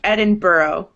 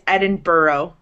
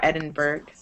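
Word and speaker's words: Edinburgh: in in Britain that end in that GH but are pronounced kind of like the word thorough so it's Edinburough not Edinburg um okay keep reading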